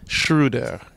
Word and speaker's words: Schröder: one for me but I'm going to try shrew there is that it it's close close enough okay